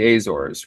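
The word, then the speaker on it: Azores: said the Azor because when I first saw it on paper I thought it was a zores but it's the Azor yeah they speak Portuguese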